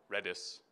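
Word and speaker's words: Redis: a MongoDB nodejs and reedus back back end or redness if you want to pronounce it that way and we use this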